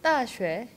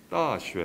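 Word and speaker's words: 大学: 대학, 클대자에 배울학, 따쉐. 따쉐. 네, 그래서 대학교 하면 보통 따쉐샤 이렇게 하긴 하거든요.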